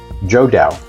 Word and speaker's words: IXDAO: The proper pronunciation in Chinese, I learned, is Joda.